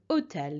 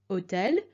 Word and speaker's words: hôtel: If you remember, this was nouns beginning with a silent H or with a vowel, so hôtel here.